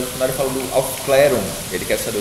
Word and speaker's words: Aufklärung: ele chama esse texto de eu não vou pronunciar corretamente, mas no final ele fala do Aufklärung. Ele quer saber o que é Aufklärung, que é um termo alemão que significa iluminismo,